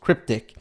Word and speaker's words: Crypt1c: please about me hi my name is cryptexy crypt1c pronounced cryptic and thanks for downloading